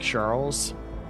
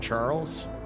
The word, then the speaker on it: Charles: First of all, French name Charles is written the same but pronounced differently from English variants. It's more like Charles, not Charles.